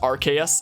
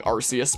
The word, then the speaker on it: Arceus: the void in our i know it's supposed to be pronounced rks i know that that's like the real pronunciation but hopefully no one's going to be on my case about me saying arceus because that's just my preferred way of saying it but it was literally